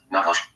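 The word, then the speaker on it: נחש: of Genesis for the word serpent is D pronounced nakash meaning magici or iner as spell under to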